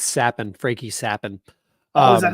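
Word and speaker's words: Capan: It's Sappin, Frankie Sappin. Oh, is that how you pronounce it?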